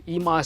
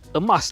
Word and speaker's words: eMAS: which is why the eMAS sub-brand was required in the first place. And it's not pronounced like the word emas tau. Ada special pronunciation, the eMAS.